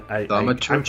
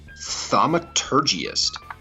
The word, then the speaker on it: Thaumaturgist: Thaumaturgists. I'm Thaumaturgist?